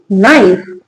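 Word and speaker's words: knife: इसको क का साउंड नहीं आएगा। क्या पढ़ेंगे? नाइन।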